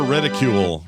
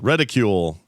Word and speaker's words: reticle: Welcome to the I'm gonna say it right from now. Reticle. Radical. Reticle. Reticle. No more reticule. Reticle.